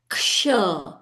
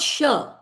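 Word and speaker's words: क्ष: It's k and sh. Ksha, not sh. In a lot of places in Rudram, people chant it as sh.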